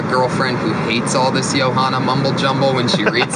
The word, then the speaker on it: Joanna: There's something about Johanna's striking. Say her name fact right. that she throws. Johanna, not Hana.